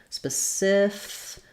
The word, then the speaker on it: specific: i or an uh then we have the Sif syllable is stress so letter C is going to say that s sound you'll see this in the dictionary specific we'll again have our